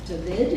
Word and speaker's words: David: Cardinal David, is that how I pronounce his name?